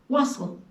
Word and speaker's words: wassail: a special drink called waselle sometimes pronounced wassel wassel means good health